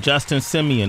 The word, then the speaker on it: Justin Simien: Tessa Thompson is here good morning thanks and Justin Simeon am I pronouncing that correct that's correct director of the